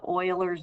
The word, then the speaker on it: Euler: so we're going to look at what's called euler's number euler's number is e which you've seen before this is pronounced euler so he is the one that